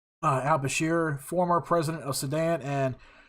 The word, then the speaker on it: al-Bashir: oh I didn't think I was going to pronounce that right uh referring to Omar al-bashore al-Bashir former president of Sudan and Muammar Al uh